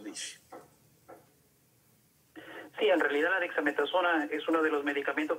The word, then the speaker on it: dexametasona: La Dexa, usted me la pronuncia, doctor. Dexametasona. Dexametasona, exacto.